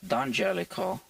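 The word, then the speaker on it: D'Angelico: you watch that documentary on YouTube he did pronounce it the Angelico and it's just Americanized so technically speaking it's dangelico the Mario is the I Mario right it's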